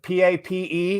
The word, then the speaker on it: Pape: man all i'm saying so pronounce pape one syllable by the way we